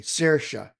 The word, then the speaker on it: Saoirse: But her name is Saoirse, and it's pronounced differently, Saoirse.